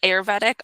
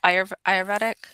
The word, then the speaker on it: Ayurvedic: So the school that you did, so it was a master's program for a is it Auroretic? Ayurvedic. How do you pronounce it?